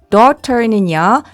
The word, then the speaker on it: daughter: 그래서 이렇게 적어주면 연결해보면 묵음 ter가 됩니다. 적어볼게요. daughter는요.